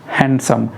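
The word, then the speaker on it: handsome: पता आप लोगों को हैंडसम हैंडसम जब हम लोग बोलते हैं तो गलत बोलते हैं ह ए एन दी एस ओ एम आई यहां पर दी पुरी तरह से साइलेंट है साइलेंट किसे कहते हैं हम लोग साइलेंट यानी ऐसा लेटर जो लिखा तो जाता है बट उसे पढ़ते नहीं हम लोग लेकिन लिखना उसे जरूरी है ठीक है तो इसे पढ़ेंगे आप हैंडसम हैंडसम तो ये हमारा हैंडसम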